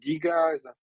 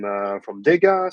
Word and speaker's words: Dega: Okay, so before we start, I just want to ask how to pronounce the Dega. Is that Dega? Is that Diga? Yeah, Dega.